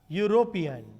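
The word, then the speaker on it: European: अब जब एक की बात हो रही है, देखने में वॉवेल, बोलने में देखना पड़ेगा यूरोपियन, यूरोपियन, य का उच्चारण हो रहा है, य का प्रोनाउंसिएशन होने पर य एक व्यंजन कॉन्सोनेंट है, ए लिखा जाएगा।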